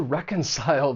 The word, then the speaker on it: reconcile: For pronunciation, the verb has three syllables. The stress is on that first syllable. And keep in mind that the c has more of an s sound.